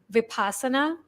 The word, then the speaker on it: Vipassana: my all my Western friends and I have pronounced it now as vipassana and the word itself originates from a 2500